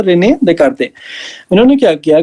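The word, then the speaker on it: René Descartes: कार्टेशियन system जो है, रेने देकार्ते नाम के एक फ्रेंच मैथमेटिशियन थे, स्पेलिंग तो उनकी अलग सी होगी, कुछ प्रोनाउंसिएशन होता है रेने देकार्ते।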